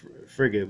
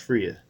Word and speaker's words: Freya: Forgive me if I get that wrong, but that's the Norse goddess Freya or Frigga. It reads like Frigga, but it's actually pronounced Freya.